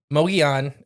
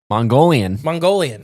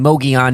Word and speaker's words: Mogollon: And then I've heard people just straight up call this Mongolian. Yeah. Like, not like the country. Right. Mogollon. Yes. Which is a Native American name and term.